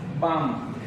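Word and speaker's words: balm: हम उच्चारण करते हैं जैसे कि हम एग्जांपल लेते हैं बाम बाम में क्या है स्पेलिंग है हमारा बी ए एल एम तो बाम में हम क्या करेंगे एल को साइलेंट कर देंगे एल को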